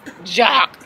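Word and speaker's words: Jacques: you say I'm done I call him jock like the dude in high school that play the sports jock but it's spelled j a q u e s but he said s oh with a s with a s he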